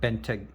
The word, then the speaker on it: Bentayga: Bentayga.